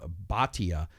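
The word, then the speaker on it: Bhatia: and then uh OE baa uh and then it's spelled AK s h a y like a sh and then baa b h silent a t a this guy's impressed me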